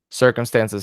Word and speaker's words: circumstances: There's two stresses in the word circumstances. Circumstances has two stresses on the first syllable and on the second to the last.